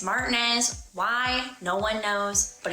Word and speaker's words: Martinez: finally let's talk about martinz you might have pronounced it Martinez but NOP around here it's Martinez why no one knows but it's just one